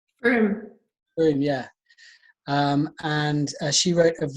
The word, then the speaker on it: Frome: I think I pronounced it right. Was it Frome? Frome.